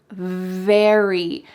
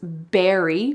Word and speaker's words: very: a moment ago, that if you want to say very, your top teeth are on your bottom lip. Very. He's very handsome. He's very smart. Very. You don't want to say that he's berry because that is talking about a fruit.